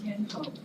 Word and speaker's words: Yen Ho: It's Yen Ho. Yen Ho, is that right? Yes.